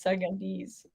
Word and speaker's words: Sudanese: It's Sudanese.